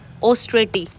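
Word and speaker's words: austerity: Next word is ऑस्ट्रेटी। ये जो ए डब्ल्यू है मतलब ओ है ये स्टार्टिंग का ओ इसके ऊपर फोर्स नहीं डालना ऑस्ट्रेटी राइट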